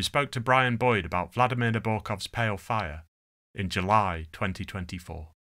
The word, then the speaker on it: Vladimir Nabokov: Okay, well, it should be Vladimir Nabokov. So it's a fully Russian one with a D. It has a kind of Z almost.